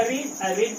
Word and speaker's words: read: तो इफ मैं का आई, और उसके बाद हैड, इफ आई हैड, और उसका V3, तो पढ़ना का रीड का V3 रेड। इफ आई हैड रेड, लेकिन स्पेलिंग सेम होगा।